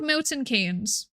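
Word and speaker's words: Milton Keynes: Why is it called Milton Kees? Is it named after a person? And if it's named after a person, why is it pronounced Kees? Because it's John Maynard Kanes.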